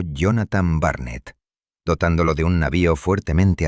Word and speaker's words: Jonathan Barnett: Contrató los caros servicios de un experimentado y calculador cazador de corsarios llamado Jonathan Barnett, pronunciado Jonathan Barnett, dotándolo de un navío fuertemente armado.